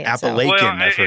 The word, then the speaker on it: Appalachian: So it's not really a wrong way. No. We just there's just several ways to say it. Appalachian, Well, I've heard it's too.